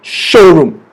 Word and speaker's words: showroom: Okay, the stress is on the word show right here. Showroom.